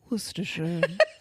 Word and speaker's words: Worcestershire: Hello, the word you're looking for is Worcestershire.